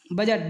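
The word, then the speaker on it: budget: कब साइलेंट रहता है जी के पहले आया हुआ डी प्राय साइलेंट होता है ब्रिज ब्रिज माने होता है पुल बजट बजट माने होता है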